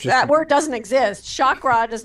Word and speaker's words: chakra: what is a chakra okay the word is chakra okay it's not chakra and and I by